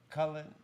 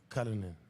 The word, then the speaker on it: Cullinan: McCullen? I don't even know how to say it. Cullinan.